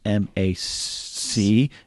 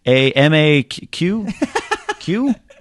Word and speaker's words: Macuga: The last name is Macuga. Got it. It's spelled like it sounds. Yeah, but at the same time, it's like I a couple times have been like Macuq, but I have the